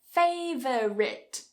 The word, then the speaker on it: favorite: The next one, favorite, favorite. Cut a syllable.